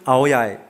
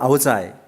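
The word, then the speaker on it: áo dài: 놀라를 쓴 이 옷은 아오야이, 들어봐 아오자이. 뭐 아오자이 발음 두 개인데 하노이는 아오자이라 발음하고요. 남쪽에는 아오야이. 이게 좀 달라요.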